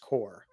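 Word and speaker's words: Qore: you look it up it's spelled q o r e but pronounced core q r e core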